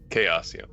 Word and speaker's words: Chaosium: Chaosium.